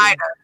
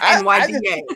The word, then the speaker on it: Nida: When you pronounce that name, it's Nida, not NYDA.